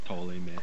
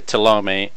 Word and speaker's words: Ptolemy: The P is silent, correct? It is. So yeah. But like that is pronounced it. Or Ptolemy. Yeah, I'm looking for a guide to Ptolemy.